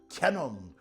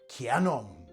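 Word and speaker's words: キヤノン: Most people think it's a kenong, but actually it's written with a full-sized yah as in kanong.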